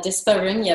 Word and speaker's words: dyspareunia: dyspareunia, or I don't even know how to pronounce it in English. Yeah, dyspareunia, that's how we say it.